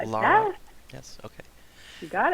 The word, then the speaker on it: Lara: gifts i'm dan and with us today is laura right did i pronounce it right kind of like lara yeah yes okay you got it nice to